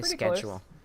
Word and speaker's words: schedule: say we don't say shed shoes are on the schedule we say schedule yeah and the last